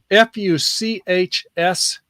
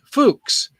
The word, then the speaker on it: Fuchs: german word is um fuchs are fuchs not what you might think it is it doesn't have a k in it and it sounds close to that dirty word so get over it